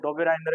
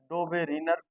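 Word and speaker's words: Döbereiner: किसी पुस्तक में लिखा हुआ मिलेगा आपको डोबेरिनर, बात एक ये उच्चारण का क्या है, फर्क है।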